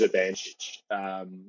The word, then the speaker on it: Urbanchich: Now, his name is hard to pronounce. It is Urbanchich.